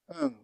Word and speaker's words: un: In French it is un. 1, un.